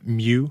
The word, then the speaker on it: Mu: and you kind of centered initially on the Mu editor. I'm thinking that's how it's pronounced.